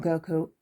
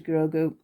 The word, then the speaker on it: Grogu: get his name wrong it is grogo and it is not goku it is grogu and i did say